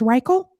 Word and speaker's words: Reichel: last name to make sure I don't pron mispronounce it it's reel correct reel yeah all right reel start